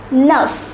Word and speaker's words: neuf: The number 9 is pronounced as neuf.